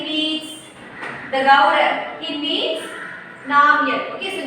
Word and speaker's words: Namgyal: He meets Namgyal. Okay, so Namgyal is a person. Here G is silent.